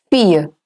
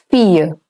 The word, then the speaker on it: fille: And daughter is fille. Fille. The double L in daughter is silent.